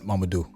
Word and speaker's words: Mamadou: How do you pronounce it? Mamadou.